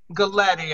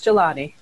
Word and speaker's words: Goletti: housing alliance and goletti am i pronouncing your name right okay close gelati gelati okay gilatti and uh is